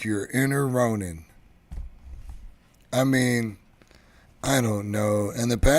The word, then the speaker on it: Ronin: Ronin, and it tells you how to pronounce it here, Ronin.